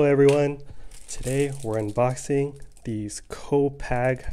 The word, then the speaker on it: Copag: today we're unboxing these co-pack i think that's how you pronounce it poker cards so these